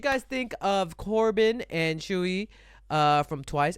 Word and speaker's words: Tzuyu: Put the comments down below what you guys think of Corbin and Chewy uh from Twice. It's pronounced Chewy.